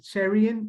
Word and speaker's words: Cherian: are going to learn today first name is Cherian last name is uh the zine